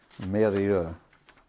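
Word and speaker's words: Mérieux: And can you pronounce that? Merrieux.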